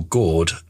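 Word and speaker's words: GORD: It's what the Americans call gird and what we call gourd because we spell esophagus differently. So we spell esophagus with an O E and Americans spell it with an E. So it's either gird or gore depending on which country you're in.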